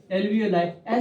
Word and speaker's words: alveoli: एल्वियोलाई spelling मत देखिए, एल्वियोलाई क्या है इसका?